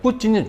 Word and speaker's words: 푸틴: 근데 푸틴 아니야, 뿌틴이 정확하게 맞아요.